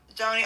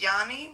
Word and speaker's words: Joni: Anyway, welcome in, Joni. Oh, you say your name is pronounced Yanni?